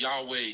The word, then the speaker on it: Yahweh: yhw h means like how it's pronounced in Hebrew it's pronounced Yahweh it's the sacred unpronouncable